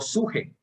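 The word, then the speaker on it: ψυχή: Hay otra palabra que empieza con P y se pronuncia upsuje. P y luego suje.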